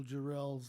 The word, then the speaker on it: Jarrell: And an argument broke out behind me over the correct pronunciation of Randall Jarrell's last name. Wilson burst out with accent on the last syllable, adding that Jarrell was